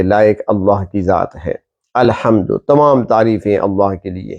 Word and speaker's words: الحمد: ہے سورۃ الفاتحہ کی۔ الحمد، پہلی بات تو یہ ہے کہ تلفظ درست ہونا چاہیے۔ الحمد، تمام تعریفیں، حق کی ادائیگی صحیح ہونی چاہیے۔ الحمد، تمام تعریفیں، اور